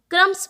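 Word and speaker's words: crumbs: यहाँ पर भी बी लिखे होने के बावजूद हम इस शब्द को क्रम्स पढ़ रहे हैं, जिसमें बी का कोई भी उच्चारण नहीं आता है।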